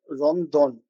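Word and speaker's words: ロンドン: Japanese जबान में L pronounce नहीं किया जाता। तो जहां पर भी एल का प्रोनाउंसिएशन होता है वहां पर यह आर से उसको प्रोनाउंस करते हैं।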